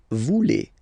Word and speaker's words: voulez: Same thing here, classic ending EZ for vous, but then you pronounce it et. Vous voulez.